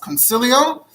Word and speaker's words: Consiglio: Then in 1425, there's a Jew named, it's spelled Consiglio, but it's apparently pronounced Concilio.